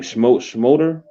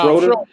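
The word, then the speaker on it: Schröder: Schmoeder? How you pronounce his name? Did I say it right? Yeah, Schroeder.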